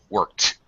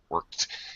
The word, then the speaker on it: worked: pronouncing that K worked I'm putting my tongue up but then I'm not dropping my tongue for the K I'm sliding it forward to pronounce the T okay so more emphasis